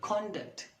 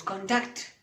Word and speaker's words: conduct: Jace's for example here the word conduct if it's a norm the stress is on the first syllable conduct but when this word is used in a sentence as a row is conduct the stress is on the second syllable in the same girl